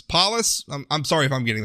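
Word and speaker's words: Polis: paus I apologize for not knowing how to pronounce this Man's last name it's p o l i s polus paus I'm sorry if I'm getting that wrong anyway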